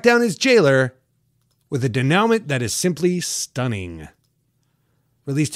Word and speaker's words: denouement: This is also where I get to be all bougie and remind you that it's pronounced denouement.